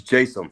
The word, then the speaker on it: Jaysam: Is it Jaysam or Jaysam? So it's actually neither. It's Jaysam.